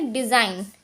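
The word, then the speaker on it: design: अब जैसे कि हम यहाँ पर देखते हैं, एन से पहले आया जी साइलेंट होता है। जैसे कि हमारे यहाँ पे लिखा हुआ डिज़ाइन, एन से पहले हमारा आया हुआ जी तो हम इसको पढ़ेंगे डिज़ाइन।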